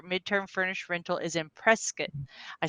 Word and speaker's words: Prescott: So I believe that you live in the Phoenix area, and we've already established that your midterm furnished rental is in Prescott.